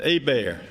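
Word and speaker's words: Hebert: say go Tigers it's g-e-a-u-x yeah and gotro is spelled g-a-u-t-h-r-e-a-u-x oh okay yes goatro yeah and a bear and h-e-b-e-h-e-b-e-r-t is Teddy Bear kind of French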